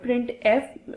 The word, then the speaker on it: printf: function है प्रिंट है pronounce है प्रिंट एफ ए डबल फरी मतलब प्रिंट है इसको प्रोनाउंस किया जाता है और इसे उसे